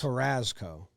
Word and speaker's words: Carrasco: K-U-H, all caps, Raz. Carrasco. And then Co with a K.